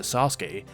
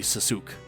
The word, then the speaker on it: Sasuke: Sasuke come to mind if you applied English Fanatics to Sasuke it would be suzuk and that's how those AI fanfiction channels pronounce it anyway you've caught me rambling